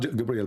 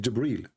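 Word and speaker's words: جبريل: It's not Gabriel, by the way, it's Jibreel. Even Muhammad, he got the name wrong.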